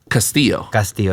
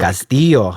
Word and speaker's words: Castillo: So you like the double L pronounced that way. Castillo, yes.